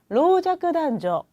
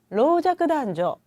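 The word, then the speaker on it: 老若男女: 로자크단조. 그렇죠? 남녀노소 그대로 읽으시면 되는데 발음이 좀 주의하셔야 돼요. 다시 한번 읽어볼게요. 로자크단조.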